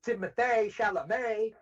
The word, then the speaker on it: Timothée Chalamet: Like, and I'll say this, Timothy Chalamet, did I say that right? Yeah, it's Timothée Chalamet.